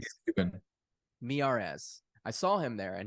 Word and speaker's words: Miyares: How do you pronounce his last Miares, name? Miares, Mirare. Miares, because he's cute. Miyares. He's Cuban. Miyares.